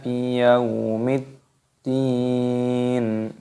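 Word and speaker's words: بِيَوْمِ الدِّينِ: Di sini terdapat alif lam syamsiyah, ada huruf dal yang berharokat tasdid, ini dimasukkan, ditekan, biyaumiddin, dalnya panjang dua ketukan, matopi'i, dan di sini dimatikan pada huruf nunnya mad arid disukun. Kita ulangi cara membacanya.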